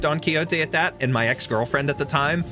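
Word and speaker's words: Don Quixote: I didn't know it was pronounced Don Kyote at that. And my ex-girlfriend at the time had corrected me because I said Donquixot and she was like, "It's Don Kyote."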